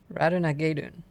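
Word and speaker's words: Ratonhnhaké:ton: Radenhinhakaton. Radenhinhakaton? Hold on. Radenhinhakaton. That's what it looks like it's spelled like. I mean, pronounced like. Okay, but this Reddit post says it's Radunagedun.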